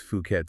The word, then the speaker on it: Phuket: We're talking about Phuket, that's pronounced Phuket, Thailand's biggest island.